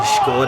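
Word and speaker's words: Škoda: Adam Beyer, his dad was the CEO of Skoda at the time, and that's how you pronounce it, guys. It is Skoda, and it is Oscar playing it out wide,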